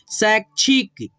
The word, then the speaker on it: शैक्षिक: इसीलिए हम लोग जो है ना इस छ के पहले आधा क का उच्चारण करते हैं। जैसे यहाँ पे देखो, शैक्षिक, जैविक, तैराक, मैदान।